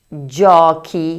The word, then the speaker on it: giochi: Y la número 4: GIOCHI (juegos). Por última, la número 5 se pronuncia GENTE (gente).